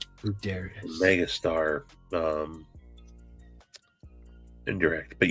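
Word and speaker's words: Buderus: mind but just so you know that's that's pronounced bueras bueras Mega star um indirect but yeah I knew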